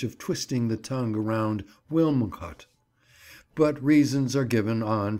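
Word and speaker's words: Wilmcote: taming of the shrew as wynn caught the name is locally pronounced in that way as it would be when we consider the difficulty in ordinary rustic speech of twisting the tongue around wilmcut but reasons are given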